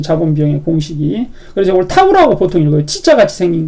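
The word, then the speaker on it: τ: 그래서 이걸 타우라고 보통 읽어요. T자 같이 생긴 거. 이걸 타우라고 읽어요.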